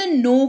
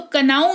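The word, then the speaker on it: know: इस्तेमाल करते हैं शब्द नो का देखो के एन ओ डब्लू है तो कनाव नहीं पढ़ते हैं इसको इसको नो पढ़ते हैं और यह क्यों होता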